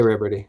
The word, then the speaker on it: Ribordy: It's French, and yeah, that's about it. It's French. That's all the Riberty lore. See, there I mispronounced it.